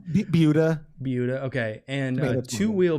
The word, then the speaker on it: Buda: Buda.